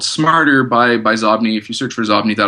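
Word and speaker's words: Xobni: What about Zobni? You use that as well, right? And I don't know if I'm pronouncing that right. I'm assuming it's Zobni. It's spelled with an X-O-B-N-I. Yeah, I think it's Zobni.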